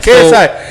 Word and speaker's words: KSI: Logan Paul versus KSI. Is that how you say it or no? Yeah, KSI. KSI.